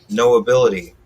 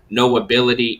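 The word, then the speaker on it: Know Ability: now on all platforms no ability is sean crutch's um brand that he represents is all about knowing that you have an ability so it sounds like no ability but it's spelt k-n-o-w ability so knowing you have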